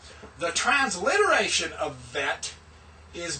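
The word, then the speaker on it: ב: The transliteration of vet is B with a line under it. That tells you that's pronounced as V.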